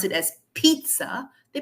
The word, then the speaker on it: pizza: don't pronounce it as Pizza they pronounce it as pizza but that's not right because we have a city called Pisa in Italy as well I'm sure all of